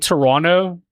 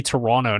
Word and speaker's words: Toronto: I started saying Toronto instead of Toronto because I was told by a Canadian person one time. They're like, uh, Canadian people don't pronounce the T.